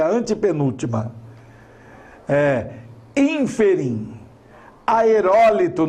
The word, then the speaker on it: aerólito: Aerólito não é aerolito.